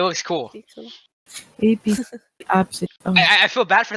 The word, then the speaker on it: Abcde: I saw the name Absidy once. And then that just stuck with me. The what name? Absidy. Spelled Spell it. ABCDE.